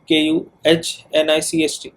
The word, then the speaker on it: knight: जैसे हमारे पास एक वर्ड है नाइट, KNIGHT, जो कि it refers to warriors, and it was pronounced KUHNICHT.